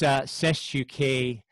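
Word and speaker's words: cestui que: Well, just a clarification, it's CESTUK, and that's spelled C-E-S-T-U-I, and then separate Q-U-E.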